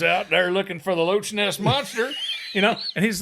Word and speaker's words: Loch Ness: But they pronounced the CH. Oh. It wasn't Loch Ness. They called it the Loch Ness Monster.